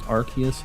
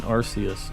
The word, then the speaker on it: Arceus: any others it's pronounced it's pronounced Arceus not Arceus uh in Japanese it's written aruse not Arceus so I don't know